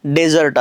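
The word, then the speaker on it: dessert: वाळवंट वृक्ष प्रदेश बरोबर पण आता बघा मी काय करतो फक्त हा जो ही स्पेलिंग जशाला तशी ठेवतो याच्यामध्ये फक्त आपण आणखी एक एस जोडू असं जर केलं का नाही तर आता याचा उच्चार कसा करायचाय डिझर्ट काय करायचा डिझर्ट आणि याचा अर्थ काय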